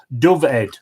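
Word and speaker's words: Dyfed: is in die fed in Wales pronounced Dovid I said I newly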